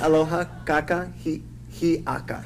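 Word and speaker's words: Aloha kakahiaka: So this is aloha kaka hiaka. Yes. Aloha kaka yaka. That is good morning. Yes. How it's spelled?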